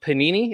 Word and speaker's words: Panini: Spectra is one of the brands of Panini. Is that how you say it, right? Panini?